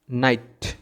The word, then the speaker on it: night: এই কারণে এখানে কিন্তু আমরা জিএইচকে উচ্চারণ করব না, এটার উচ্চারণ হবে যে NIT, শুধু এতটুকুর উচ্চারণ হয়েছে, নাইট। জিএইচ সাইলেন্ট থাকবে।